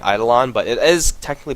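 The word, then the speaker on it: Eidolon: the demonic conversions which i learned recently is pronounced idolan i don't know how reliably i can say that i'm probably just going to keep saying either on but it is technically pronounced idol and it's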